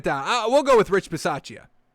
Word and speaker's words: Bisaccia: Rich Bisaccia. I think it's Rich Basia? Bisaccia? We'll definitely get it down. We'll go with Rich Bisaccia. I think it's Bisaccia.